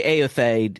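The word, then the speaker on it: Éothéod: It's the Aothade. Yeah, Aothade. Yeah, Aothade. Eotheod. Yeah, Aothade. It's actually an old English English name, and it comes out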